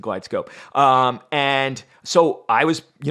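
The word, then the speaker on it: GlideScope: end we got a glide East cope no it's not pronounced that way it's a glide scope and so I was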